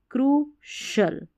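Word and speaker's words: crucial: तो सी आई एल इसको शल पढ़ना है क्योंकि जो सी आई है ना इसका श उच्चारण है श तो देखिए स्पै शल सो शल ओफी शल क्रू शल [नाक से की जाने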